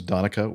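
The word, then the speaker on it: Donnchadh: excellent yes like this my name is Danica which is spelled really really weird d-o-n-n-c-h-a-d-h from Ireland thank you as Gaelic okay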